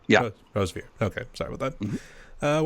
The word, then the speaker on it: Rosevere: Is that how you pronounce it? Rosevere. Yeah. Rosevere.